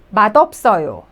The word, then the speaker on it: 맛없어요: 맛없어요. Well, this one, it's really complicated to pronounce.